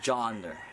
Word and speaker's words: Johner: oh my name is John Durr pronounce John first and ER that's also how you spell it like jo hn e